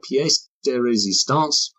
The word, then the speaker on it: pièce de résistance: And then the real pièce de résistance, did I pronounce that right?